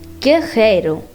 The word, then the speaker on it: guerreiro: and in other cases people are pronouncing the R like H, carro, guerreiro.